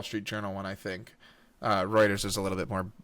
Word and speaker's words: Reuters: Yeah, it's Reuters.